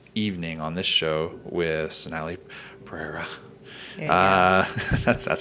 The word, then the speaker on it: Sonali Perera: If you guys want to check out this great event we've been talking about all evening on this show with Sonali Perera.